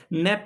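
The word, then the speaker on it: Knapp: किसने ये बात कही है, नैप के द्वारा ये बात कही गई है। के इज अ साइलेंट हियर।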